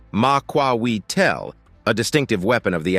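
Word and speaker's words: macuahuitl: The Muahidel, pronounced Maquawel, a distinctive weapon of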